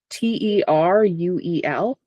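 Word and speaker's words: Teruel: So the R would be rolled. And it could sound like a duh, but it would be, yeah. Tereuel.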